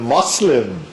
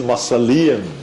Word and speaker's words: mausoleum: Well, I used to pronounce that word as a Muslim, and then a student corrected me, saying that it's a mausoleum. And then I knew how to say that correctly.